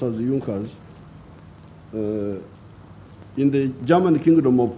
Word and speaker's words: Junkers: the junckers it's written in junkers but it's pronounced as the yonkers in the german kingdom of prussia one of